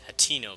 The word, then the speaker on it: Hateno: I used to think it was spelled with another vowel, but it's Hateno Village.